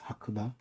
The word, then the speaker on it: Hakuba: I think the modern pronunciation is Hakuba. The area is now known as Hakoba.